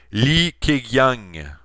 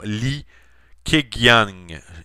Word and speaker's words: Li Keqiang: chine et plus précisément le premier ministre chinois li keqiang donc je répète le nom li keqiang et s'écrit cas qu ing dans le pardonner mon